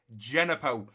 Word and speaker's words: Djenepo: The right mid, who is actually a left mid that we play out on the right, whose name is Djenepo, it's pronounced Genepo.